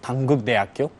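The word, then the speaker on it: 단국대학교: It's Dankuk University, which you call it in Korean is Dankuk Daeakyo.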